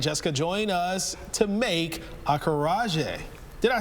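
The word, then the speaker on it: acarajé: Veronica and Jessica join us to make Acaraje. Did I say it correctly? Yes, Almost. Acaraje.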